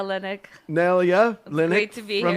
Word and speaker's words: Nelya: I'm Nelya, Linnik. Nelya, Linnik.